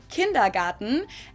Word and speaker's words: Kindergarten: ones and that is kindergarten in German we pronounce it kindergarten and it literally means Children's Garden and even